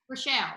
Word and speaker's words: Groeschel: Groeschel? I think I know him. Yes. Groeschel, right?